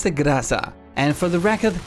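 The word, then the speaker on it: Groza: Finally, it's the Graza, and for the record, that name is Russian and is pronounced that way.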